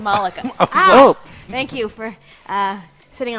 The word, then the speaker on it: Malaka: Malaka? Malaka? I mean, I would say Malika, but I'd be wrong. It's Monica with an L. What? What? Malaka? Malika. Malaka. So it's Malika.